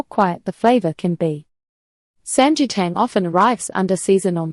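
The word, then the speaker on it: 삼계탕: Pronunciation help. Samgyetang. The gi sounds closer to jaya than guy.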